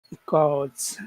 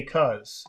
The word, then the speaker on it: because: How about in because which syllable has all of the uh sound because. So because cause. And actually sometimes a lot of times uh we don't say the B part. We just say cause.